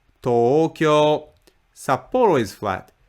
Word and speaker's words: Tokyo: middle flat pitch yoing Tokyo is flat Tokyo Tokyo Sapporo is flat sap